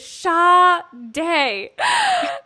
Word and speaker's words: Shadé: And finally, I think you Facebook messaged me and you were like, by the way, Amanda, the way you pronounce my name is Shadé.